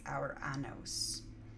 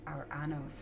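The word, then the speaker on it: Ouranos: uranus or uranus yeah they spell it o u r a n o s so it's our annos or our annos or uranus uranus yeah whose name means the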